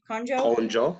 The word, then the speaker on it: Konjo: Konjo, yeah, Konjo Konjo.